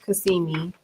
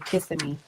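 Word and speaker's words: Kissimmee: Um, so we we stayed in Cassimi. Did I say that right this time? Cuz normally I would say kissing me, but the the locals was telling me, you know, girl, you weren't saying it right.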